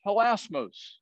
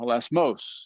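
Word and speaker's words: ἱλασμός: From the Strong's Concordance, that word is helasmos. Well, they put the accent on the last syllable, helasmos, I guess.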